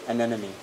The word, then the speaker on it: anemone: Anemone.